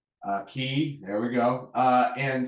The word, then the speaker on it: Castaway Cay: stop at their Disney's Private Island which is Castaway K uh key there we go uh and so you you